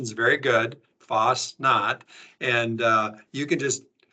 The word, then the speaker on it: Fastnacht: of all uh let's just hit that your pronunciation is very good Foss not and uh you can just Kyler you can